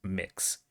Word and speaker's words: Mx: did look it up mx is indeed pronounced mix uh the one one